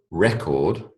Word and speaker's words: record: one is a verb when the emphasis is on the first syllable record it's a noun okay so those large